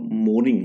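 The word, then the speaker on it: mourning: express सोरो म मो मोर्निंग मोर्निंग मोर्निंग कहते हैं इसको एम ओ एन आई एन जी होता है ठीक है एम ओ एन आईजी यू आर में साइलेंट होता है और रिग्रेट ऑफ और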